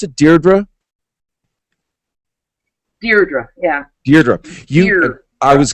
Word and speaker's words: Deirdre: You, as the grandniece of Al Capone, Deirdre, do you pronounce it Deirdre?